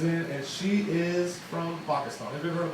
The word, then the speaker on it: Pakistan: It's not Pakistan, it's Pakistan. It's a soft P. It's almost like a B.